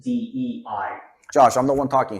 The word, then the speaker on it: DEI: of diversity, inclusion, and equity, otherwise known as DIE. Uncle V, it's actually pronounced DEI.